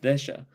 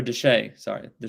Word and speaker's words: Desha: But the outgoing governor, which was Joseph Desha, or Deshay, I believe is how you pronounce it.